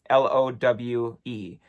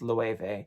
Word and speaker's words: Loewe: If you know Loewe, the designer, Lowe. So it looks like low, but it's pronounced Loewe because it's Spanish.